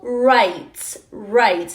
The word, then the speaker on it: rights: Y derechos, civil rights, no rights. Cuando una palabra termina en GHT, solo vamos a pronunciar la T, rights.